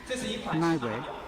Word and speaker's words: BiNavi: The origin name BiNavi is the Bike Plus Navigator, second leader of the English spelling combination of words, pronounced BiNavi.